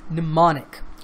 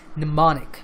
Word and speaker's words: mnemonic: to the pronunciation it's mnemonic the M at the beginning of the word is silent okay so it's mnemonic now as Oddity says